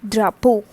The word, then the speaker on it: drapeau: Un drapeau, which is flag. Alright, so this A, E, A, U produces sound like O, and it becomes a drapeau, that is flag.